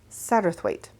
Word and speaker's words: Satterthwaite: Apparently, according to Google anyway, it's pronounced Satterthwaite.